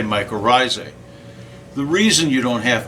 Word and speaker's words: mycorrhizae: to mycorrhizae and actually if you wanted to pronounce mycorrhizae correctly it would actually be much risi but nobody pronounces it that way at all so we're not going